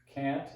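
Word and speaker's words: quinte: This is tierce, or 3, cant, or 5. Again, that's spelled quint, Q-U-I-N-T-E. Prime, where you look at your watch and point your elbow at your opponent.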